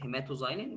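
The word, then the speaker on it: hematoxylin: الهيماتوزايلين، هنا الاكس بتتنطق زي الزد، هيماتوزايلين، والايوسين او الايوسين.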